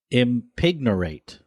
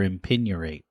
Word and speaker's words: impignorate: and then spell it impignorate the G could be silent i m p i g n o r a t e impignorate or impignorate I'm gonna say it